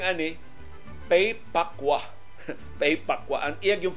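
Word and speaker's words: Pei Pa Koa: Nagtitanaw dyan ko sa mga websites aning Pay Pakwa, unsay pronunciation ini, sus ang ila pronunciation, Pay Pakaw. Pay Pakaw? Nakwa man, K-O-A man. So Pay Pakwa ang pronunciation ani.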